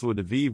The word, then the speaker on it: joie de vivre: However, in French, it's pronounced joie de vivre with a soft J sound.